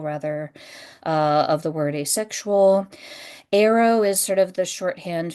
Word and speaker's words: aro: Arrow is sort of the shorthand for aromantic. You pronounce it like the thing you shoot out of a bow.